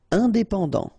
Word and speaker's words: indépendant: Indépendant, final did not pronounce.